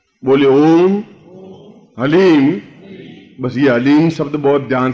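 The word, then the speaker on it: ह्लीं: से उच्चारण करने जाना एच ए एल ई ई M haleem कोई बोले हरीम कोई बोले ही तो कुछ फायदा नहीं होगा ह ली म हलीम ह आधा है ओम अभी बोलना ओम हलीम बगलामुखी सर्व दुष्टा नाम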